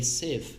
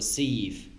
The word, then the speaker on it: sieve: Maud was so kind to enlighten me how it's pronounced, so apparently you call it a sieve and not a sieve.